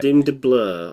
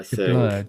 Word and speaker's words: DeBlois: Dim de Blur, I DeBleur, think. DeBlois. It's like blue but spelt weirdly. So I just Bleu. yeah, Dim de Blue.